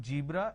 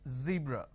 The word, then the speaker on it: zebra: jar it's a mispronunciation it's not jibra it's zebra it's not john it is zone it's not g it is zeal it's a z sound another mistake that people